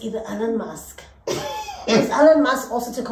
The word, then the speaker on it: Elon Musk: It's Elon Musk. Elon Musk. He's South African, so I'm saying it right.